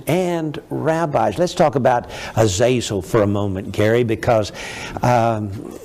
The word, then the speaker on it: Azazel: Well, J.R., one of the fallen angels was called Azazel, or Azazel, it would be pronounced in the Hebrew.